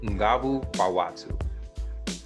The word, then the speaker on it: Nguvu Kwa Watu: The actual pronunciation in Swahili is Nguvu Watu.